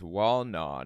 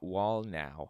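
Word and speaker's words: Wallnau: Thought it was Walnaw, not Walnow.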